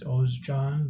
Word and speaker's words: Ozcan: The right way of pronouncing it is Ozcan, like as in Oscar and John together.